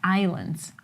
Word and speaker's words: islands: But do you understand that the S is silent in Oh my God.